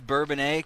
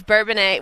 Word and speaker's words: Bourbonnais: It is Bourbonnais, because there was some debate as to how you pronounce that name when we were kind of studying and figuring out where you guys were coming from. It's Bourbonnais.